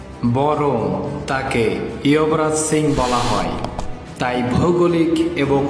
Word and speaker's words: যুবরাজ: ভারতের একজন বিখ্যাত ক্রিকেটার যুবরাজ সিংকে অনেকেই চেনেন। কিন্তু হিন্দি ভাষায় মোটেই তাকে যুবরাজ সিং বলা হয় না। বরং তাকে ইয়বরাজ সিং বলা হয়।